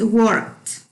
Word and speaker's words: worked: Notice about the pronunciation, it's not worked, it's worked. At the end, you are going to listen like a t, like a T.